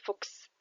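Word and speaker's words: Fuchs: شويه بعد كده عندنا سيها اس اللي بيتنطق اكس زي كلمه فوكس ثعلب فوكس وبعد كده سيكا سيكا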